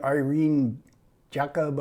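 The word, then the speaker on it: Irène Jacob: but she is indeed Irene Jacob I think is how you say her name and this was only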